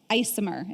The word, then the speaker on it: ICMHR: health recovery services or icmhr isomer is how they're pronouncing it these days that's also targeting our